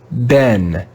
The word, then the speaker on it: been: this isn't a bean some people like people who live in england may read this word with the sound bean have you been good but in america we